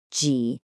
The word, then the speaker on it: 几: People often pronounce ni and ji way too flatly. You have to remember, a third tone needs to have a clear dip and then a rise. Listen again. Ni, ji.